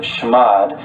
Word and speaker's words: chmod: And chmod, or some people pronounce it shmod, basically stands for change mode.